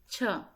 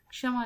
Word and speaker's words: क्ष: अब देखो गलती कहाँ करते हैं बच्चों आप लोग, कि क्ष का उच्चारण आप लोग सही नहीं करते हैं। इसको कुछ बच्चे बोलेंगे छ, जैसे हम क्षमा लिखेंगे, क्षमा लिखेंगे तो क्या बोलोगे? इसको क्षमा बोलोगे।